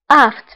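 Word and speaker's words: aphte: Aft فهنا PH. فهنا PH كنطقوها بF.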